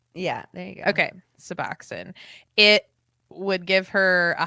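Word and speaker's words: Suboxone: much um anyway sorry I didn't mean to pronounce that wrong can you say it again suboxin yeah there you go okay suboxin it would give her a high like the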